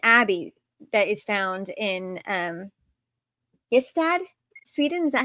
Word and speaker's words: Ystad: research about an abbey that is found in Ystad, Sweden. Is that how you say it? Yes, Dad.